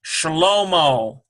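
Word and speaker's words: שלמה: Here is Sheen, Sh, and a Shabbat, Sh. Here's a Lamed. Here's a Holem, Shahlo. Here's a Mem, O, ends with a H, Shlomo.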